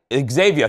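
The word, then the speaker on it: Zhavia: Disney dropped this music video overnight featuring Zayn, and I want to make sure I'm pronouncing her right. Xavier Ward, I think that's, what? Xavier, thank you.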